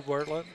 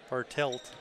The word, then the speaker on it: Bartelt: Keegan into the lane Hunter Ward to 42 Bartlett bartelt really mispronouncing his name here this is 12 Schumacher